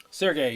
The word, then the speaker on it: Sergey: Did I say it right? Sergey? Sergey, yeah. Yep, I did it.